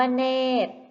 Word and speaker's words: เนตร: ข้อ ที่ 1 1 คำ ว่า เนตร พยัญชนะ ตัว ใด ที่ ไม่ ออก เสียง คะ ใช่ แล้ว ค่ะ พยัญชนะ ที่ ไม่ ออก เสียง คือ ร เรือ และ คำ ว่า เนตร